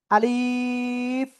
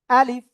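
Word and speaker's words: ألف: আলিফ কোন টান হবে না এ অক্ষরে। আলিফ এরকম বলা যাবে না। বলতে হবে ডাইরেক্ট আলিফ আলিফ আলিফ।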